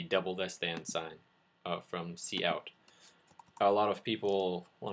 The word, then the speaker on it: cout: they have cout and cin can actually be referred to as sin and coot. It doesn't really matter as long as you know what people are actually talking about. It's sort of a pronunciation type situation. Its proper name is cout, but if you know it as whatever, that's probably what you're going to call it. Moving on, there are different,